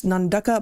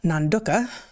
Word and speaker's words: Nanduka: So, it's spelled with all A's. The only vowels in the word are A's. But they gave a little phonetic pronunciation thing and they want us to say Nanduka.